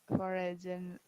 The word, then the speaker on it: foreign: Number three, you ever learn a foreign language? This is foreign Have language. G is silent.